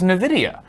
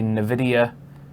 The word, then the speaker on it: NVIDIA: He says Nuhvidia, which I've never heard it pronounced that way, and I'm unsure if it's like.